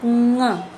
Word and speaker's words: कुआं: इसका जब हम उच्चारण करते हैं तो हमारे नाक से आवाज़ निकलती है कुआं। इसका हम जब उच्चारण करते हैं तो हमारा थोड़ा सा आवाज़ जो है नाक कुआं, देखिए कुआं, हमारा उच्चारण थोड़ा चेंज हो जाता है।